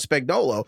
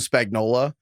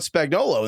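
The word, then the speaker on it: Spagnuolo: He calls him Spagnola even though Tony Romo has probably done more Chiefs games than anybody else in the last six years and he's gotten this guy's name wrong every single time.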